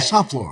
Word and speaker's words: St Fleur: It's really St Fleur.